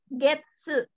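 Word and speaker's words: げつ: sama bulan 1.1 tapi kalau satu bulan Ika getsu getsu dibacanya get to kalau apa namanya tuh rentang waktu yang tentang waktu Tapi kalau nama bulat dibacanya Gatsu di setang bulan Januari 3 atsu bulan Februari nigatsu itu aja terus tangga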